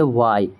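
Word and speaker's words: why: दूसरा अगर डब्ल्यू के जस्ट बाद एच है तो वहां पर भी एच को हम प्रोनाउंस नहीं करेंगे। जैसे डब्ल्यू एच वाई हम इसे पढ़ेंगे वाई।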